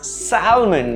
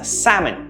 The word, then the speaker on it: salmon: let's say right um this fish is pronounced as salmon usually right this is incorrect it's incorrectly pronounced with an l um the actual pronunciation is salmon it is salmon breeding